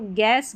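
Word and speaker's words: guest: जी यू इसको ग अक्सर यू यहां पर साइलेंट रहता है जी यू में। तो गेस्ट गेस्ट गाइड और गिटार। तो यहां पर देखिए बीच में जो यू आ रहा है ये साइलेंट है।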